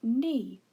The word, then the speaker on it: knee: an e sound but there should be a silent letter at the beginning of the word ne in order to spell it correctly the silent letter is the letter k this is the correct